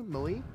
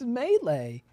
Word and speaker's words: melee: can melee melee melee mali yeah what do you mean mali it's melee that's a word you've